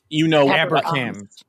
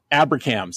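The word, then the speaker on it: ABRCMS: I mean, there's a wonderful meeting called the Annual Biomedical Research Conference for Minority Students, which I believe is pronounced Abracam. Abracams.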